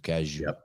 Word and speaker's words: Cazayoux: Yeah, also, they know that OUX is you, Cazayoux.